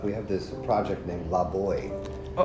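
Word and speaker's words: Laboix: We have this project named Lab Boy. Uhoh. It's name it's spelled L A B O I X and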